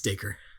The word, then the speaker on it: Dacre: Yeah, it's Dacre.